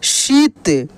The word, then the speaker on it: शीत: है दोस्त यहां पे शीत यानी श में बड़ी की मात्रा और त शीत और वही छोटी की मात्रा रहता तो उसका उच्चारण आराम से करते ना सिंपल तरीका से करते और बड़ी की मात्रा में जोर लगता है यानी खींच कर किया जाता है यानी इसका प्रोनंसिएशन लंबा होता है ठीक ना जैसे मा